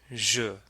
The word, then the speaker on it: je: Degree, de, je. And the J in je is pronounced like the J in bonjour. It's like treasure or pleasure.